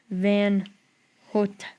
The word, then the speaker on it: Van Houte: By the way, last name is pronounced Van Houte, like out.